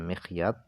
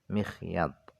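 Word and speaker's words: مخيط: dengan jarum bikasril mim cara bacanya mikhyat adalah bikasril mim dibaca kasrh mimnya WA fathil musutannaditi atttahtiyati yaitu dibaca fathah titik du yang berada di bawah maksudnya adalah huruf ya-nya dibaca fathah mikhyat wahua Adapun mikhyat itu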